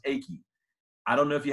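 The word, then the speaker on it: Eiki: It looks like it should be Ike, but it's actually pronounced Aki.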